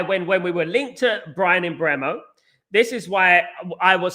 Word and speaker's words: Mbeumo: In regards to Bryan Mbeumo, I believe that Bryan Mbeumo, thank God I could pronounce my R's, Bryan Mbeumo, right?